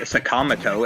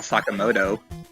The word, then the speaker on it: Sakamoto: They call Ryuji Sakamoto and not Sakamoto.